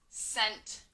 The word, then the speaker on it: scent: So at the beginning of the word scent, we hear that soft C. We hear the S, but it's spelled with a C.